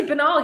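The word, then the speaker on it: Binnall: In a Senate hearing, Trump campaign attorney Jesse Benali, or Benal, excuse me, I mispronounced his name, and I've met him before actually, presented evidence of widespread voter fraud in the state of Nevada.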